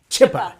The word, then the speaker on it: Zschuppe: Zschuppe. Like you eat a chip and then yes.